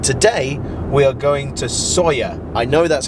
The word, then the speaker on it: Sóller: a city but today we are going to sawyer i know that's how you pronounce it because i asked a waiter sawyer and we're going there today uh through the